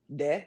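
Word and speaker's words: dix: Okay, the X is silent, so it's just D. De.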